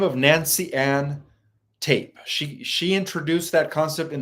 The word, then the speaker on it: Tappe: So the original person who coined the term indigo was Nancy Ann Tape. Tape is spelled Tappe.